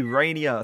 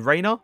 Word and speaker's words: Reinier: is going to be rainier to review today i actually had to search up to pronunciation because trust me i thought that actually said rainer but apparently it isn't either way i was